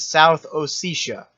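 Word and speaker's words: South Ossetia: This is abasia and this is South Oisha. So that's how you pronounce those.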